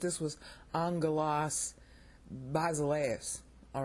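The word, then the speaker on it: ἄγγελος: these are two G's they look like little y's but you pronounce them like Ng so you say Angelas not aalas all right that's the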